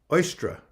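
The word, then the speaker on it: Eostre: that happened okay see e-o-s-t-r-e i think that's how it is uh oyster oyster is how you pronounce it oyster and uh she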